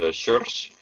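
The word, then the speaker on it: Joris: It's in Dutch pronounced Schurz.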